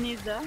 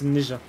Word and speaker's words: Neja: Je disais Neza, puis je disais Mesa. Neja, c'est DE hein, qui a confirmé pour Neza. D'accord. Ça se prononce Neja.